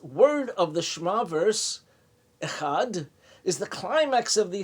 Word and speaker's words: Echad: Shema verse, Echad, one, elongating its pronunciation, like Echad, and emphasizing the letter Dalet, the D sound at the end.